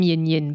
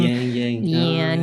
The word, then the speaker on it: Yin Yin: I mean, they could pronounce it, but Australians tend to draw their eyes out and becomes an A. So it became Yang Yan.